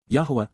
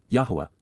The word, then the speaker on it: Yahowah: Yahuwah, Yahuwah, the proper pronunciation of the name of Eloah, God as directed in